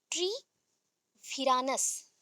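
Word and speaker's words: Treviranus: Important person Lamarck and tree विरानस, tree विरानस, that is called ट्रिवेरानस, ट्रेवेरानस, ठीक है, ट्रेविरानस। तो इसको प्रोनाउंस करने से पहले ट्री विरानस बोलो, फिर एक साथ जब करोगे ट्रेवेरानस, ठीक है, ट्रेविरानस।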